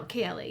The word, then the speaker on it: Kayali: Kayali.